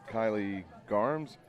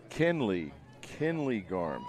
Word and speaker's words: Kinley: taken care of because I'm thinking that the spelling is not actually what the pronunciation is. So Kinley Garms. The way it looks is just, it looks like another spelling like Kylie, but it is Kinley Garms.